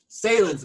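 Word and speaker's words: Sahlen's: You know, with the Nathan's versus, is it pronounced Sahlens or Sahlens? I know it's a regional brand there. Sahlens, man.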